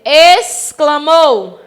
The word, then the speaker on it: exclamou: E quando eu digo exclamou, a palavra pronunciada, escrita com X, tem som de S, tá, meus amores?